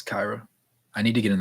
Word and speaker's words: Kyra: By the way, with Kyra Lewis, his first name is pronounced with I. Thank you, Kyra Lewis. The thing is, I objectively know that, and my brain just can't make the switch in my head. I keep thinking Kira like what's it called?